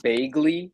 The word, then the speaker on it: Bagley: Bagley, like Mark Bagley, but people that say Bagley the way that the word vaguely is pronounced, that's funny to me.